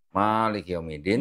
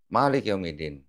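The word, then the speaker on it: مالك يوم الدين: juga dengan di Quran ada yang mushaf hafas bacanya misalnya Maliki yaumiddin he di Maroko orang bacanya pendek Malik yaumiddin ya memang kalau di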